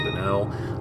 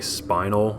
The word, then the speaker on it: spinel: There's a spinel. I don't know if that's the correct way to pronounce that. I actually like to say spinal, even though I'm pretty sure that's wrong.